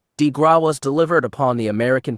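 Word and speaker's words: de grâce: The Killing below the coup de grace pronounced DeGraw was delivered upon the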